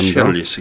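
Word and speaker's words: Chehalis: 네, 예, 발음도. 시할리스, 예.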